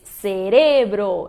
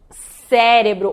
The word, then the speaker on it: cerebro: Se diz cerebro e não cérebro ou cérebro. Ela é uma heterotônica, que muda também a sílaba tônica em relação ao português, e se diz então cerebro.